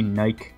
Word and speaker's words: Nike: uh British people pronounce Nike Nike really no they don't really they they pronounce it Nike what tur and they actually think that it's true because you pronounce bike like that so it's like oh